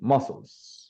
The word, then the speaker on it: muscles: relaxing foreign I mean it is written with C but this is this it doesn't sound so it would be muscles muscles muscles muscles okay